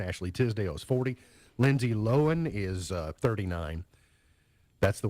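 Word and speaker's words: Lohan: Lindsay Lohen is uh 39. That's the way it's pronounced according to this. Round here we say low hand.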